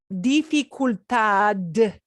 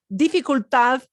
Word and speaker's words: dificultad: the end, when a D is a little caboose at the end of the train, when the D is the last word, it's going to go very soft. So it'll never. Now, if you pronounced it dificultad D at the end, somebody knows what you mean, but it sounds like, wow, foreign accent to them. Okay. So yeah, dificultad, it should be a very soft D just trailing off at the end.